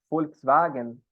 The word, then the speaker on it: Volkswagen: E a própria letra V também em alemão tem som de F. Então, por exemplo, o carrinho lá, né? Volkswagen, significa carro do povo, na real.